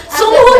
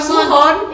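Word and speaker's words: Sunghoon: Sunghun bacanya bukan Suhon. Sunghun.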